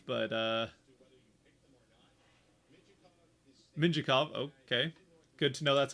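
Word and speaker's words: Mintyukov: ducks fan here to hear about pebble mintukov but uh minjikov okay good to know that's how you pronounce it don't really know about but here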